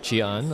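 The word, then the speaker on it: Chee Aun: Hey guys, I'm with Chian. I never know if I pronounce his name correctly. Yes, Chian.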